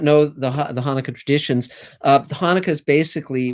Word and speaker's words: Hanukkah: rugrats it's not pronounced hanukkah it's pronounced hanukkah and you have to spit when you say it yes it's hanukkah if